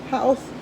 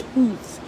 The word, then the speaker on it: Howth: The way they pronounce it is somewhere between Howth and Hooth.